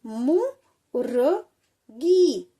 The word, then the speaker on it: मुर्गी: तो किससे पहले पढ़ेंगे, ये जो गा है ना जिसके ऊपर लगाई हुई होती है ये रेफ की मात्रा, उससे पहले हम रा का उच्चारण करेंगे। तो कैसे पढ़ेंगे, मुर्गी मुर्गी।